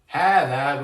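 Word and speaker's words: هذا: Hada, which means this. It's the masculine form of this. Hada. And there's like a dagger alif here. There's like a hidden alif. So it's pronounced hada.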